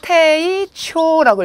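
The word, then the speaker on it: 丁重: 그리고 정중할 때 태이초라고 읽어주기 때문에 이때도 가운데 무거울 중자를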